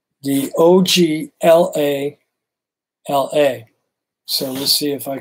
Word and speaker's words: Oglala: it up here yes i do let me spell it right the o g l a l a so let's see if i can even pronounce